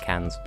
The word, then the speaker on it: Cannes: have a film festival it sounds like Cannes except you actually pronounce the S because French is just weird like that point in fact we